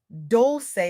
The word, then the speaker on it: Dolce: Pronounced doulce like sweet softness whispered in French.